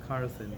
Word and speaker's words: Carlson: No, Carlson. That's a different guy you're talking about. Like it's spelled C. CARL, Yeah. not Carson.